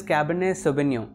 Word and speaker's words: Cabernet: अभी हम लोग डिस्कस करते हैं की इसको प्रोनाउंस कैसे किया जाता है सो इट इस कैबिनेट अगर आपको ब्रेक करेंगे इट इसे कैबिनेट सो